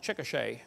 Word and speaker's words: Chickasha: 2005 textbook, and I pronounced it wrong, it's Chickasha, not Chickashaw, Chickasha, Oklahoma.